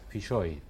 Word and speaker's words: Filloy: Filloy, era gallego.